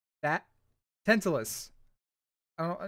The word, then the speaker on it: Tantalus: Tantalus. I don't know, it's not TH, it's Tantalus.